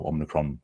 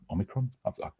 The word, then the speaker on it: omicron: we'll just have to wait to see our omnicron um omicron i'm getting that pronunciation people are often wondering how to how